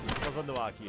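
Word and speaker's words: Kozama'uka: Kozanuaki, okay, I was close with my pronunciation.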